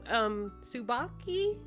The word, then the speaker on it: Tsubaki: Also, Tsubaki, I hope I'm pronouncing that right. It's TSU at the beginning. I'm pretty sure that's just pronounced Sue. Like Sue, like that I think that's how it's pronounced.